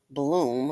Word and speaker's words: Blum: a non-profit led by Blum Bloom is pronounced Bloom like you know alleges that the